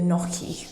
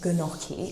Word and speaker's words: gnocchi: If you watched the last weekly vlog when I made the gnocchi and I pronounced it gnocchi, thank you so much for letting me know that there is a silent G in that, because that's the first time I knew that.